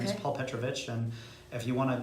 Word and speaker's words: Petrovich: He said I think it could go either way, but he pronounces it Petrovich.